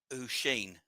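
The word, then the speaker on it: Oisín: It's pronounced Usheen.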